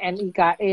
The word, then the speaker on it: Nike: Tulisannya NIKE, tapi bacanya Nike.